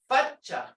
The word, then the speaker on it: fatcha: Some of them spell it with 2 C's, but the way I speak from my area, we got the D in there, fatcha. And you can hear the T, the D sound on your tongue's on top